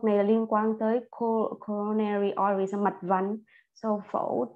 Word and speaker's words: coronary: Coronary artery bypass graft. Okay, not nerve, but nary.